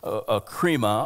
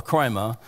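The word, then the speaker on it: κρίμα: Judgment here from the Greek word krima or krima, and it's spelled K-R-I-M-A, and it means really judgment, a severe trial which would determine character.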